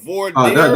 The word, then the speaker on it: voir dire: The voir dire? That's French. The voir dire.